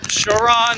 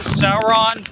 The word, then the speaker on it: Sauron: How do you pronounce that? Is that Shaon? Sauron Sauron.